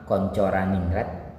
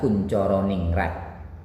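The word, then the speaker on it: Koentjaraningrat: seorang tokoh yang bernama koncor aningrat atau kuncoroningrat dia ini ejaan lama kalau kita Bacanya adalah kuncoroningrat menurut beliau suku bangsa itu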